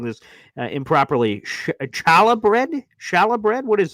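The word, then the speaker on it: challah: intrigued oh it's oh he's saying it's Chala Chala I thought it was like hala hala I'm trying to get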